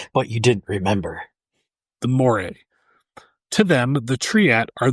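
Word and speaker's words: Moirai: The Morae.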